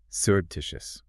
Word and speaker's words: surreptitious: Compare it to fertive. Fertive is two syllables. Sharp, quick, like the glance itself. Serptitious is four syllables. It takes time to say.